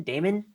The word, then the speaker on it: daemon: what demons is that do you pronounce it like normal demon or is it demon demon Damon d d a m o NS it's Damon yeah that's how that's how it sounds like a guy's name you know hey Damon